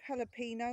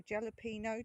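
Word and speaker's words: jalapeño: I've got here two jalapeno or jalapino depending on what country you're from, how you say it.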